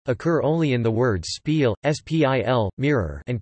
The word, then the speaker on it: spieël: As phonemes, I, and, U, occur only in the words spiel, spil, mirror, and koel, kuel, bullet, which used to be pronounced with sequences, I, and, U, respectively.